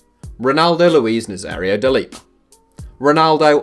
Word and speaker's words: Ronaldo: Ronaldo, or Ronaldo as the Brazilians pronounce it, is the greatest